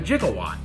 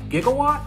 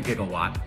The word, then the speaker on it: gigawatt: and as an engineer I've always taken issue with Doc Brown's pronunciation of a jigawatt I mean what exactly is a jigawatt doesn't he mean gigawatt I wonder what Doc